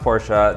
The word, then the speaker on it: Porsche: for the porsche panamera it's pronounced porsha the client would not